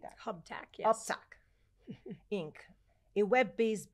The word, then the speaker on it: Uptack: Hubtac, yes.